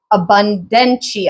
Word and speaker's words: Abundantia: Guiding goddess, now this one I do have, is Abundantia. I always say her name. I always have a hard time saying her name. It's like abundance. Abundantia is how I think you say it.